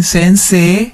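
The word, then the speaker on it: 先生: Sensei. Sensei. Notice that we have a long vowel at the end. Sei. Okay, sensei. Kyoushi. Kyoushi. Again, another long vowel. Kyo. Kyoushi. So, the difference between sensei and kyoushi is that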